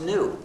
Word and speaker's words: GNU: reason why the word GNU is used in so much wordplay is according to the dictionary the g is silent and it's pronounced new so anytime you wanted